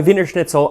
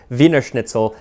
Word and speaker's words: Wiener Schnitzel: After a while, they dropped the Der and just kept the Wiener Schnitzel, obviously not pronouncing it Wiener Schnitzel as in German, but Wiener Schnitzel as in Wiener Schnitzel.